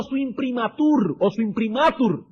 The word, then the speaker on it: imprimatur: Si quieren usar un lenguaje más fino, está poniendo su imprimatur sobre las escrituras del Antiguo Testamento. Su imprimatur, la el acento en la A.